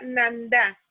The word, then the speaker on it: Nanda: Pero se pronuncia, en mazateco se pronuncia Nanda.